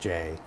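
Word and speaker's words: Jai: name of the language I pronounced it Jay I don't even know how you really would Jay Jay yeah it's just Jay so here's okay so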